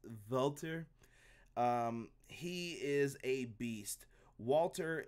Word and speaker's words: Walter: is a brute and I should say it like Brian Williams it on the preview show its vaulter he is a beast